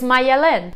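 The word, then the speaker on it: Maialen: Number 20 is Mayelen. So very similar, just added another syllable, Malen.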